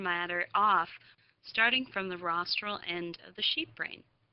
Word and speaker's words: rostral: which direction is rostral rostral rhymes with nostril and rostral is the